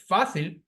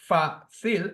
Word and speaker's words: fácil: So, for instance, the word fácil, which has two syllables, fácil, is stressed on the second syllable from the end.